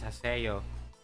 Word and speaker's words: Haseo: A case of mispronunciation. Definitely. Yep. It's Haseo. Hey, look.